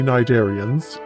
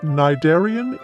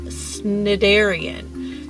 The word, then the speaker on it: cnidarian: cheerio thank you chuck i had been pronouncing it sniderian so now i know the correct pronunciation and that's always good